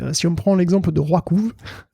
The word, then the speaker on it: RWKV: on prend l'exemple de Roikouv, je sais, ça s'écrit de manière encore plus imbitable que ça se prononce, hein, je vous rassure. Ça s'écrit RWKV.